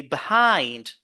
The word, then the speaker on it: behind: no we say between and the last word also is a preposition so we say behind behind behind so behind behind we do not say or we should not say behind no behind no